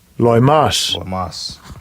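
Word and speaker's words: λοιμός: Let's see how they pronounce it. Strong's G 3061. Loimas.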